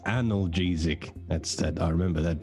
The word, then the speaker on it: analgesic: It's pronounced analgesic.